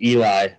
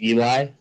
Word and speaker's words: Eli: years now yeah yeah my name is uh pronounced Eli by the way come again uh but the way to pronounce my name is Eli Eli okay yeah okay yeah